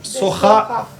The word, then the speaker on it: soja: de Soja. Soja se dice igual que en español, pero se pronuncia soja.